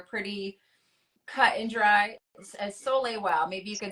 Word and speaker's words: soleil: As Soleil, wow. Maybe you can spell that again. Somebody wants to. Yeah. So soleil, just the French word for sun, soleil, S-O-L, I think it's E-I-L, soleil, soleil well.